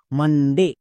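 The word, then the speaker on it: Monday: তাহলে বসিয়ে দাও এম ও এন মান মন কিন্তু না ও এর জন্য আকার সাউন্ড নেক্সট ডি ডি এর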